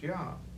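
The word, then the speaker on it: Iah: at it it's spelled i-a-h yeah okay it's pronounced yah in revelation chapter 19 we read the words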